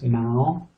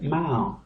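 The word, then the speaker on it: เมาส์: We have the meditating ladyboy with owl, so that's Mao. And now this is the S sound, but we're not going to pronounce it because it's got this tape over the top, so it becomes silent.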